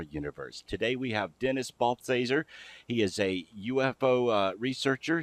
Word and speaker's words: Balthaser: You notice I'm not using your last name again because I don't want to mispronounce it. It's Balthaser.